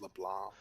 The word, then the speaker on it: Leblanc: was just there around leblanc got it i hate how it has a c in it but it's just pronounced leblanc yeah i know i